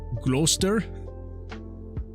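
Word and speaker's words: Gloucester: uh pronounced rooster and GL glue how you pronounce it gler that's that would absolutely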